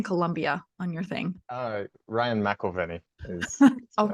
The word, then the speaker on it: McEverly: Ryan McEverly is Oh, my right. I name. always say it wrong. Oh, no, I No, didn't. everybody does. I didn't You last didn't. time. No, you got it. McElveny?